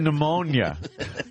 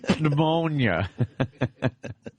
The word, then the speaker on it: pneumonia: Pneumonia. Pneumonia.